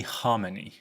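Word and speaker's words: Khamenei: him Kings rashed Ali Harmony Ali that's right your pronouncing it right I'm not since 1981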